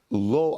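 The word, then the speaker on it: לו: Even if HaKadosh Baruch Hu were to take my life, lo ayachal. Now lo is spelled lamed vav, but again it's vocalized the same way. That's what the lamed aleph, which is no.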